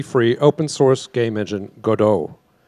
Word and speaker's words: Godot: look at and increasingly starting to use called Godot Gadot depending on how you pronounce it uh it's obviously named after the